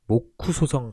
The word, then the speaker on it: 모쿠소: 바로 모쿠소성 전투입니다. 모쿠소성이 어디냐고요? 모쿠소, 목사의 일본 발음인데요.